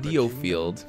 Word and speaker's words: Diofield: to be abundant on deofield the attention of both the Empire and the alliance inevitably turned towards the island now I learned that you pronounce it deal field of Alec ward of